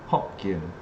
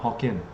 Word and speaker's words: Hokkien: The proper way to say Hokkien is actually Hokkien, not Hokkien.